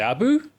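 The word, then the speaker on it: Abu Bakar: How do you say my name? Abu Baka. Okay, that's that's a pretty decent pronunciation. Well, how well I can say Abu? Yeah, Abu is fine.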